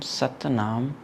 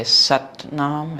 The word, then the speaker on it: Sat Naam: So six times satanam or you can also say satnam if that's easier then satanam might be difficult but try to pronounce each of the syllables and sounds with your tongue.